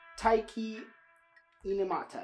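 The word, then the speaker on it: Taiki Inomata: about two characters here so first we have taiki Mata that's how you pronounce his name so he's the male lead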